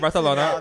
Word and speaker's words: Barcelona: I was in Barcelona, and that is how you pronounce it correctly. So whenever Yes, we laugh about that, I'm right. like, that is how like the Catalan people want it to be pronounced.